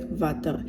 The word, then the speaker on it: water: afrikaans for instance um water is pronounced as vata therefore i had to